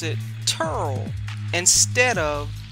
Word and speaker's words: Terrell: went to the school we were told to pronounce it turl instead of tyrell and yes the children from down around dc